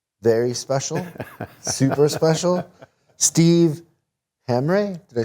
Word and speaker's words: Hamre: a special guest very special super special steve hamrey did i say it right you betcha how many people get your your last name most people just call me hammer and i just go with it hammer it's